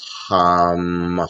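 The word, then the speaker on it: हम: as blue, and then you pronounce hum, hum, hum with an H. H-A-M, and then you feel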